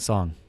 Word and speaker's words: Song: And I also like Yadong Song.